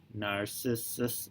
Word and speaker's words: Narcissus: Yesterday we read Narcissus. Narcissus? Narcissus. There we go, that's pronounced correctly.